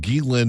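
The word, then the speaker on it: Ghislaine: did you see that Gilin Maxwell was just moved from one facility to another? I'm so glad you pronounce it that way and not the way that Jillian used to pronounce it.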